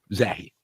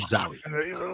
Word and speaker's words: Zahi: Zoe. Zahi. Zahi. Zahi. Zah. Not Zoi.